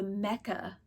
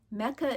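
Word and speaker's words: Mecha: As I said, this is made of Malabrigo Piedras, but It's the Mecca brand of yarn, product line of yarn. Mecca is considered, that's spelled M-E-C-H-A, is considered a bulky yarn.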